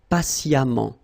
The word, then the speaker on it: patiemment: So as I told you, even if you write it EMMENT, phonetically it goes like amant, patiemment.